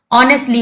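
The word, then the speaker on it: honestly: आपको इसे ऑनेस्टली नहीं पढ़ना है। ऑनेस्टली एच जो होता है वो साइलेंट होता है। ऑनेस्टली आपको पढ़ना है।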